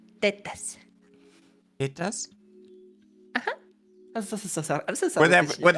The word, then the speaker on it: tetas: Or you can say tetas.